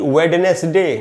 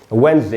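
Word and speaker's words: Wednesday: उसके बाद दोस्तों बुधवार का जो दिन होता है, इसको भी वेडनेसडे नहीं पढ़ना चाहिए और इसको हम पढ़ेंगे वेंसडे। इसमें पहला जो डी है वो साइलेंट होता है।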